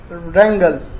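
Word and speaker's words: wrangle: अगला वर्ड है रैंगल। रैंगल का मतलब होता है करवल या झगड़ा। डब्लू इसमें साइलेंट है, ये रैंगल पढ़ा जाएगा।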